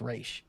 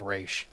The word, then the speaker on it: Ra's: Talia corrects Bruce and says, well, technically his name is pronounced Ra's.